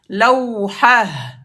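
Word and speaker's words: لوحة: C'est que le ta fermé se prononce comme ha à l'arrêt. Lawha.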